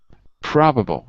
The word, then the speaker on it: probable: So you'd have to say probable. So the stress would be on the first syllable, pra, ah. And it's an ah sound, so it would be number 9 in the chart.